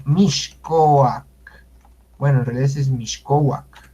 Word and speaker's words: Mixcoac: es un ignorante porque no sabe cómo se pronuncia la X. Por ejemplo, Miscoac, Miscoac, que le dicen Miscoac, se debe de pronunciar Mixcoac.